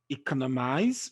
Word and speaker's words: economize: Rule 11, words that end with the letters IZE or ISE. The stress is placed on the third syllable, just like the Y sound, okay? From the end.